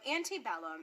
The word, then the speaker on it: antebellum: our ecclesiastical pronunciation but we're just going to say it using the anglicized pronunciation since that is how you'll hear it so antebellum and it means before